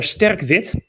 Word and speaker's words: Sterk Wit: trying to get this in frame it's their sterkvit yeah that's actually a dust pronunciation i just wanted him to pronounce like